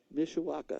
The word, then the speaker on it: Mishawaka: practice that oneisha Mishawaka okay like it says but you got so many letters in there it looks weird people usually can't pronounce it right Mishawaka I'll work on it